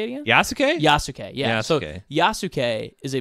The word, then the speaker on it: Yasuke: community I think it's all Yuki if I'm pronouncing that right yuk yasuke yasuke yeah there we go yasuke um we're Qui